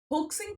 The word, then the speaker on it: hoax: इसको मैं होक्स कह रही हूँ, लोग हॉक्स भी कह सकते हैं। तो प्रोनाउंसिएशन थोड़ा बहुत डिफरेंट हो सकता है, आप दोनों तरह से बोल सकते हैं वर्ड को, कोई गलती नहीं है।